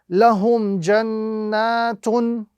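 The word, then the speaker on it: لَهُمْ جَنَّاتٌ: We apply the rule, we substitute the tanween dhamma for the sukoon, and we read accordingly. So the correct pronunciation while stopping at this particular verse will be lahum jannat.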